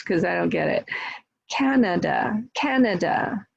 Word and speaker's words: Canada: Canada, Canada, Canada is 3 syllables, right? First syllable stressed, Canada.